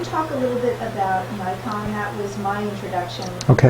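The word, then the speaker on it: Naikan: The reflection side of the material is something called Nikon. It's a Japanese word that's pronounced like we mispronounce the camera, Nikon.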